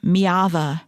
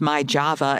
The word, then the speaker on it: Myjava: Their story begins in a place called Mava. It's spelled M Y A Va. It looks like it's my Java if you're using American English.